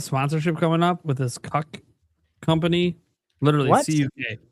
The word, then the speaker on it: CUK: I got a sponsorship coming up with this cuck company. Literally CU. It's CUK. That's all you're I did not come up with Yeah, it's in the official documentation. It's not pronounced differently.